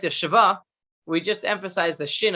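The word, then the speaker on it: שְׁוָא: to be pronounced just shiva it's the short i like if or traffic it's a very very short sound so this standard would be shiva not shiva not sheva just shiva and shiva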